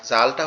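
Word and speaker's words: ذ: আর জালটা হচ্ছে খুবই সহজ। জালটা হচ্ছে আমাদের এই জিহ্বার আগা সামনের দুই দাঁতের আগার সঙ্গে লাগবে।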